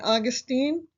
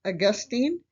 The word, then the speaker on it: Augustine: St. Augustine, or I've also heard it pronounced St. Augustine, was before the medieval era, 354 to 430.